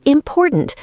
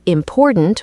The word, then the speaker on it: important: For example, say important, not important or imprint.